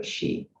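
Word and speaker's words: 十: well um 10 uh because in chinese 10 is in mandarin 10 is pronounced as uh she so um and also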